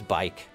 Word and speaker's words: Bikke: He will address me as Bike. Some pronounce it Bikke, but I pronounce it Bike.